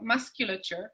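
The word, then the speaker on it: muscular: para conjugar la palabra más o por ejemplo más que luchar ahí sí se pronuncia la sed entonces teniendo en la raíz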